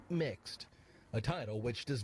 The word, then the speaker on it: Mx: use the pronoun mr instead using mx pronounced mixed a title which does